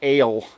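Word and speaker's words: אל: the mighty l uh pronounced ale in the original language strength as an edge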